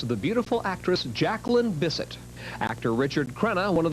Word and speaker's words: Bisset: on the show tonight and I said Jacqueline Bisset he said you mean Jack one of the Bessette yeah there's no I mean visit lots of